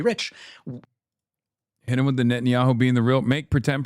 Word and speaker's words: Netanyahu: Hit him with the Netanyahu being the real, make pretend president realize he's just a city mayor.